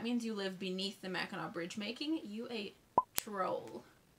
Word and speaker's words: Mackinac: nails on a chalkboard when you hear someone pronounce it mackinac mackinaw or mechanic do people actually say mechanic ugh it's mackinaw wait it's nails on a chalkboard when you